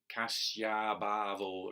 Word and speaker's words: kasyābhāvo: So important to get the long syllables long. So kasyābhāvo are 4 long syllables.